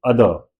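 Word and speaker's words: other: दूं यहां पे कि जो लास्ट में र की साउंड है उसको हम प्रोनाउंस नहीं करते हैं इंग्लिश के किसी भी वर्ड में। राइट? तो इट्स इट्स नॉट अदर। Raw last वाला र वो रोल नहीं होगा। इट्स नॉट अदर। इट इज अदर।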